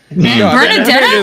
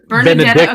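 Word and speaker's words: Benedikta: No, y'all said it wrong. Benedicta, because she wants the dick. No. Yeah, Benedicta. Okay, you're right. She definitely can't say Benedicta without dick.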